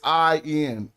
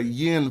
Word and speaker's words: in: It's an is how you say well I you think is going to say in, right? But the I some say yin. When they're when they're doing Egyptology speak in an institution, they'll say yin for this word and it means by.